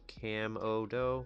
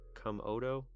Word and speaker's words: Camodo: As a small correction, not to be rude, his channel name is pronounced Camodo. Camodo. Okay, it's not to be rude, but the beginning is pronounced the same as Cam Camodo.